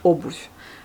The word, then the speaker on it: обувь: Alors que grâce au signe mou, il garde sa prononciation propre V, mais il radoucit un peu à la fin, il devient le mot qui existe et pas n'importe quoi.